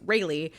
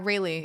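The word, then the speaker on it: RayLee: So her name's Rayleigh, but it's spelled phonetically like little R-A-Y, capital L-E-E, like it's Rayleigh.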